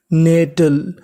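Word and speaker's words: nettle: आपने गौर किया कि टी हमारा दो बार है। पढ़ना कितनी बार है? एक बार। और आखिरी में इ लिखा है इ का उच्चारण करना नहीं। तो मीनिंग बनी एन इ ने डबल टी एल ई टल। तो पूरी मीनिंग नेटल।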